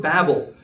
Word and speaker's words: Babel: of Babel, but it's the word Babel, because confusion and babble, that's the etymology of it. This person is babbling. He's babbling. I don't understand what he's saying. It's confusion. So that's the proper pronunciation of the word based on its meaning.